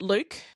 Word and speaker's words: Luc: Which I pronounce, I've got to ask you, do you pronounce it Luke?